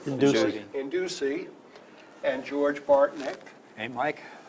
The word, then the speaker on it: Indusi: Okay, with me today is the club president, Induski. I said it wrong. Indusi.